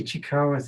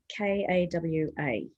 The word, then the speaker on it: Ishikawa: So what was the Ichikawa thing? Can you spell that for me? Ishikawa.